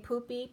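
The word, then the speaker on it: Pupi: Or I was getting poopy. Poopy is a Pope reference. So it's not spelled like poop. It's P-U-P-I.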